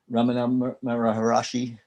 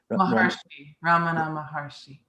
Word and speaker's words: Ramana Maharshi: muji and uh ramana maharaja how do you say his name ramana maharshi and uh and i